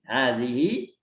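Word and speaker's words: هذه: Hazihi kutubun. Ikutin, hazani. Ya, jadi ha ini bacanya semuanya panjang ya. Mau hazihi, mau hazani, haza semuanya hanya dibaca panjang. Walaupun tulisannya pendek, tapi dibaca panjang.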